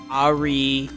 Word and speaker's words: Ahri: truly don't i know of vi jinx echo ahri that's how you pronounce her name the nintendo fox lady and